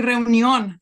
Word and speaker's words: reunión: And when I pronounce it, I say reunión, like in Spanish, and they thought I was writing onion because of the pronunciation.